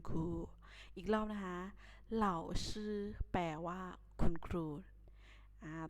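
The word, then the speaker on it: 老师: ศัพท์ ที่ 5 นะ คะ เขา อ่าน ว่า เหล่า ชื่อ แปล ว่า คุณ ครู อีก เล่า นะ คะ เหล่า ซื้อ แปล ว่า คุณ ครู หา ต่อ ไป คำ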